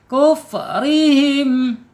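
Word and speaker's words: كفرهم: Kufrihim, kuf, maaf, jadi ke bawah kop nih. Kuf, kap ya, kap, hamas ya, ak, ingat ak, nggak boleh ku, jangan terbawa hamas.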